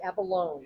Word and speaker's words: Abalone: And it's abalone is how you pronounce abalone, it. Rhymes yeah. with telephone.